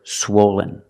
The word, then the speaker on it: swollen: swollen is an adjective for the first syllable use the long o like know and go swo swo Lin swollen the second syllable is not stressed it sounds like this Lin Lin swollen swollen the adjective is